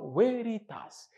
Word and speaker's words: veritas: du mot latin Veritas on écrit veréritas mais prononce Veritas donc le Ve se prononce en latin alors